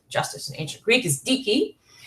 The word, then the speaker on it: dike: Justice, in the word that Hesiod uses for justice, means justice in ancient Greek, is dike. rhymes with Nike, but Nike should be Nike, I guess.